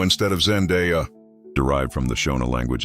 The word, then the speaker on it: Zendaya: 12, most fans mispronounce her name constantly, calling her Zendayo instead of Zendeya, derived from the Shona language of Zimbabwe, her name literally translates to "to give thanks."